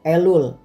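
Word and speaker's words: אלול: Ejaan Ibraninya Alef Lamet Vav Lamet, dibaca Elul, artinya bulan ke-6 dalam kalender Ibrani, bulan pertobatan, bulan persiapan hari raya.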